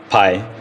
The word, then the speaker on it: Pai: It doesn't actually pronounce pie, but when it's in English, it's pie.